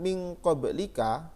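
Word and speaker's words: من قبلك: Pada contoh ini bacaan min qablika, nah ini min qablika dibaca min qablik. Kenapa? Karena ada tanda waqaf jim, ini jaiz ya. Kita berhenti, maka bacanya min qablik.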